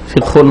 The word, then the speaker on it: ফিকহ: আলোচনা, তা হচ্ছে ইসলামী ফিকহ সম্পর্কে। এই ফিকহ শব্দটিকে আমার দেশের লোকেরা শুদ্ধ উচ্চারণ করে না, বাংলা থেকে ফেকা করে। ইসলামী ফেকা আসলে ফেকা না, ফিকহুন মানে জ্ঞান অর্জন করা।